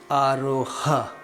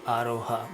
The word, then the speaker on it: aroha: see the aroha, but we don't usually say aroha, we just say aro. But there is an H there, aro, there's a small H there, but when you pronounce it in speech or in a sentence you would probably just say aro avro.